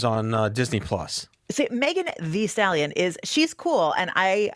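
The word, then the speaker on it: Megan Thee Stallion: Megan the stallions uh what I believe has pronounced Megan the stallion I have to say it like that I feel like I feel like an when I say that but I you're supposed to say like that right the stallion yes Megan V stallion she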